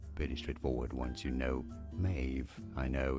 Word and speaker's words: Maeve: to pronounce murder correctly it is a v sound like I was watching